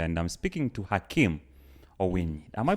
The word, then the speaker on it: Owiny: Maybe to remind those who are watching us, you're live with Simon Chris Makanga, and I'm speaking to Hakim Owiny. Am I pronouncing your name rightly? Owiny.